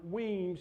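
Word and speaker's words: Wemyss: He sent a force under Weems, it's spelled W-E-M-Y-S, through the Shiraz, 50 miles, burning and plundering the whole way that he went.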